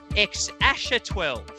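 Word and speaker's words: X Æ A-12: and grimes new baby uh which is being pronounced ex asher 12 musk there we go excession 12 bucks and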